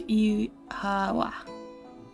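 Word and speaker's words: oíche mhaith: One dialect would pronounce it as Ihawa.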